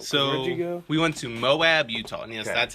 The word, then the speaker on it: Moab: what would you like so we went to moab utah yes that's how it's pronounced m-o-a-b it's a town smaller than the